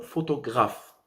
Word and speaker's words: photographe: Par le mot photographe. Comment on va prononcer? Photographe. Photographe. La dernière syllabe ici prononcée, c'est graphe. Graphe.